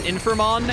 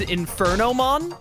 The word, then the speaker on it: Infermon: helps balance the game would always pronounce infermon as infer noon when we were testing him and it drove me insane he would just always say Inferno instead of infer I win that was